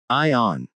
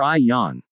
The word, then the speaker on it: Eon: captain rub his head is it pronounced like I on or I Yan I accept both pronunciations Dash hidden conditions checks